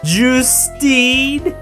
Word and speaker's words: Justine: Justine.